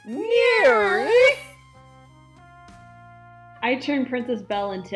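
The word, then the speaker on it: NIRYFP: n i r yfp those are the letters for the name of the show and it's pronounced near I turned princess Bell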